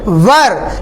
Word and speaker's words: were: रोक सकता है और डब्ल्यू ई आर सी को इंग्लिश में बोलते हैं वर लेकिन कई लोग इसका उच्चारण बदल देते हैं गलत पॉज कर देते हैं इसको वर्क की जगह बोल देते हैं व उसको एक बार